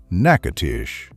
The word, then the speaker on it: Natchitoches: Pronounced Natchitoches.